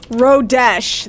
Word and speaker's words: Rodesh: uh the key word is just gonna be rodesh that's it rodesh if everybody knows how to spell that it's r o d e s h rodish just rodesh just rodesh now in order to